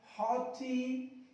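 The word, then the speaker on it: haughty: ये ध्यान रखना कि GH जब भी वर्ड्स के लास्ट में आएगा और T से पहले आएगा। क्या कहा मैंने, वर्ड्स के लास्ट में और T से पहले GH को साइलेंट रखना। इसको बोलेंगे हॉटी।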